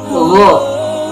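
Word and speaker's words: غ: Yang ke-19 yaitu huruf ughin, pelafalannya ugho.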